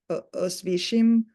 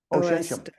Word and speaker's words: Oświęcim: But actually, Auschwitz was built where it was built in a Polish town called, my pronunciation, Toni, you can pronounce this better than I can, but Oświęcim, Oświęcim. Oświęcim, which was the name of the town, right?